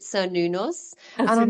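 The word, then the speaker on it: Cernunnos: So I pronounce it Sir Nunos, Oh, and Sir I'm like, Nunos.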